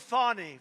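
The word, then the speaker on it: Fani: state fton county what do you think of fonny f do you think fonnie huh F A ni I that's pronounced Fanny but you're not allowed to say it's fny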